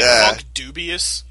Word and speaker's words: Funkdoobiest: Did you say Funkdoobiest? Yes. Wow. But dubious is spelled like Doobius.